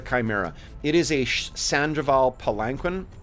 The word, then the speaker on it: palanquin: it is a sandal palanquin or pakin palankin I think is the way to pronounce that palen um uh class